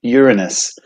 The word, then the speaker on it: Uranus: is the seventh planet and yes it's actually pronounced uranus it's the third largest planet in the solar